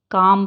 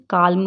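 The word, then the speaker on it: calm: पढ़ेंगे हाफ ही पढ़ेंगे काम पढ़ेंगे काल्म नहीं पढ़ेंगे काम वक पाम फॉल्क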